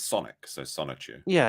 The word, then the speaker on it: Sonichu: Yeah, I know, but I think it'd be because it's with the chew on the end. If you were in Asian, it'd be Sanichu. I suppose that is correct, yes.